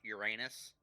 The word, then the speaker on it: Uranus: Connor, it's pronounced Uranus.